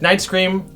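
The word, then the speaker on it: Nightscream: and night's scream yes night scream right night scream the edgy bat one yeah rhymes with ice cream right okay and they're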